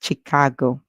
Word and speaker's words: Chicago: is CH E CH we can divide it into two parts chick and then we hear a and then we hear g o or we can put g o together to make that small word go and then we can say CH and then a and then go our word is Chicago so we he CH Cho Chicago Chicago and Chicago is actually